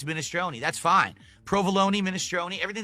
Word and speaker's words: minestrone: So I say minestrone su and they're like, "No, it's minestronei." Oh, really? Well, do you pronounce it provalone cheese?